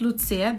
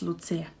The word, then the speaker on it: Lucia: it's like so the the word lucia the name actually has three syllables we pronounce it as three syllables my name is lucia again we have the